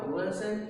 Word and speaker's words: wasn't: Nah ingat, setiap ada s kemudian ketemu not yang deconstructed atau yang disingkat, maka jadinya wasn't s itu dibaca z, membacanya. Berarti the boy wasn't at my home.